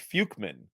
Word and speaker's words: Fuchman: Fuckman. No, wait. It's pronounced Fukeman. It's Fukeman. It's Fukeman. Yeah. No, it's Fukeman. I thought you want to say fuckman.